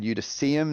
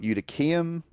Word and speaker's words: Eutychium: I said Eutychium, not Eutychium.